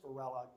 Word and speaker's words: Varela: know anything about spanish if you use a double l rather than a single l it is pronounced completely differently it would be varela